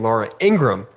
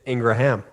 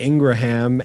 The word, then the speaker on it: Ingraham: to have on because most people pronounce her name laura ingram but as you'll find out it's ingraham it's actually ingraham as curtis told us